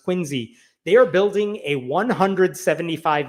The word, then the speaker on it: Quincy: You may remember that in the city of Quinsey, Massachusetts, it's spelled like Quincy, but I guess it's pronounced Quinsey.